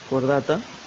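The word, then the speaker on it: Chordata: se lo denomina, cordata, esta CH se pronuncia como una Q, cordata, y el subfilo vertebral.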